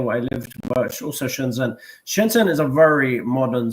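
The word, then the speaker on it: Shenzhen: A girl from Sheinston. Shenzen.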